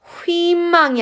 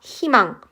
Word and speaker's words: 희망: 그렇게 그래서 희망 같은 경우는 휘망이 아니라 희망 이로 발음을 합니다.